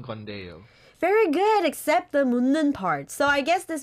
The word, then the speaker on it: 묻는: 묻는. Okay. Think of 문 in the studio.